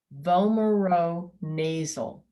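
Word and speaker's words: vomeronasal: the last part of the word is zul vomero nasal bomero nasal organ now in the video we learned that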